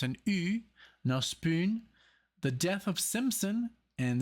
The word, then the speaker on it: NOSPUN: with the with the band called No spoon but because it has the um louds on the U so it's an uh spoon the death of Simpson